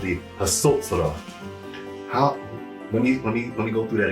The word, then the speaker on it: Hatsotsrah: It's called the Hatsotsrah. Let me go through that again. Hatsotsrah. So how do we spell it?